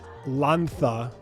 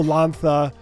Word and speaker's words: Lanza: the CEO of vivid and I've got lantha I'm going to pronounce it right did I get it right perfect awesome lantha who is the artist on a new piece